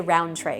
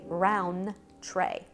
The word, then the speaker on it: Rountrey: I would always put I'd say Rountrey because that for whatever reason just sound easier to come off the tongue, but it is technically Rountrey, fancy.